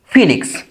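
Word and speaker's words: phoenix: তাহলে এটার উচ্চারণটা হচ্ছে ফিনিক্স। ওকে? ওই এর উচ্চারণ ই এর মত হওয়ার জন্য এটার উচ্চারণ হল ফিনিক্স।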